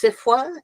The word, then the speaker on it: SFWA: Poetry Community well sure um actually sfwa is pronounced CIFA and this is just a colloquialism that's just